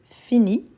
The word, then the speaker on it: finis: coup ici on dit je finis je ne prononce pas le S mais il est obligatoire donc je finis tu